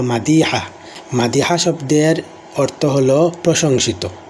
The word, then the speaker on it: মাদিহা: মাদিহা শব্দ যদিও বাংলাতে বলা হয় মাদিহা। কিন্তু আরবিতে সঠিক উচ্চারণ হলো মাদিহা।